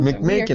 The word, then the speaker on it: McMakin: And I keep saying it wrong. McMakin it happen.